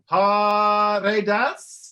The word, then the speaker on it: Paredes: Please welcome co-founder of Rochester Latino Theater Company and assistant director of multicultural programs at Rochester Institute of Technology, Paredes.